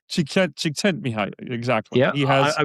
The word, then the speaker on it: Csikszentmihalyi: I'm going Mikhail to he's called Mihi Csikszentmihalyi. Csikszentmihalyi. Exactly. Yeah, He has I mean, I'm a I'm really 100% sure I unpronounceable got last that name.